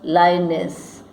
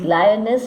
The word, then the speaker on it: Lyonnesse: Lyonnesse and guess rhyme with each other.